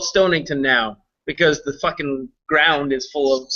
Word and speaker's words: Stonington: guys are from connecticut it's stonington stonington just like it sounds funny he might have to bury his dead cat the other day and he said i know why it's called stonington now because the [